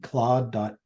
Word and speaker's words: Claude: GPT is doing yeah clae is spelled c l a u d claw.